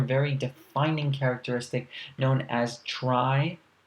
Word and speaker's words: trichome: defining characteristic known as trichomes. Trichomes, I don't think that's how you say it. I think it's trichomes.